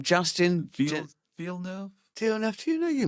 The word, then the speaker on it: Villeneuve: Well, I'm going on the basis Yeah, that the film director Villeneuve, who's just made Dune and Blade Runner, they pronounce it Villeneuve, and it's Okay, spelled great.